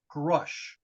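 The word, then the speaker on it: Grusch: by the name of David grush rhymes with thrush um he claims so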